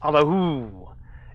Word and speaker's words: Allahu: The main mantra to practice is Allahu, and I've already explained the pronunciation of Hu, with the first part, pronounce the ah deep in the heart region.